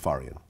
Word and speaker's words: Farian: you hook up with Frank uh faran is that how you pronounce that's right Frank faran Frank farian so what's interesting about Frank